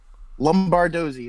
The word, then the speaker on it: Lombardozzi: Lombardozzi is how you say the name.